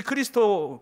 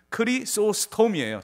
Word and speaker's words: 크리소스톰: 붙였습니다 그 황금 입인이 크리스토 크리스토 크리소스톰이 제가 어 발음이 안 되네요 예 크리소스톰이에요 정확히 이름이 그 크리스 오스터 교부가